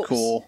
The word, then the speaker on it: Corps: It's the Collector Corps. Sorry. Corps. No, Corps, not Corps. That is, it does say corps, but you pronounce it corps. Oh. Like Marine Corps and that kind of thing.